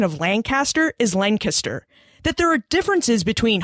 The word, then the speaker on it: Lancaster: So when I arrived on campus, they taught me a lot about Pennsylvania culture, like the proper pronunciation of Lancaster is Lancaster, that there are differences between hogies and heroes and between cheese steaks and steak and cheese sandwiches.